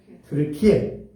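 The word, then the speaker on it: Türkiye: 트르키예. 터키라는 이름은 이제 원래 트르키예인데 트르키 이렇게 되는데 영어로 해버리면 터키라고 이렇게 발음이 좀 달라져요.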